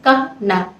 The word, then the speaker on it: Kana: इस सिंबल का नाम है ऑनेस्टी और इसी को में से ट्रांसलेट किया गया है कना से KANA प्रोनाउंस किया गया है कहना KAH-NAH और इसका जो कलर है वो है ग्रीन।